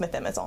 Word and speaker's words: methimazole: to take the propranolol since June, so just methimazole now. That's exactly what I did. Methimazole, is that how you pronounce it?